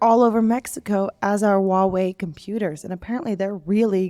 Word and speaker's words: Huawei: Huawei, how do you pronounce it? Huawei.